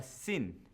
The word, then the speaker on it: sin: with a sh sound if the dot is on the left it's called a sin with a s sound a s sound there